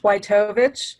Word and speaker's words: Witovich: It's pronounced Witovich, but I've heard it many, many ways.